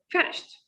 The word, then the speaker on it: finished: They make a stop between a voiceless sound and t sound. Be careful. It is not she t. No, we pronounce these sounds in a one shot, in a one line.